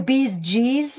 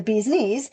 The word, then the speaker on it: bee's knees: Well, you never even say it correctly. You say the bees G's and it's really the bee's knees.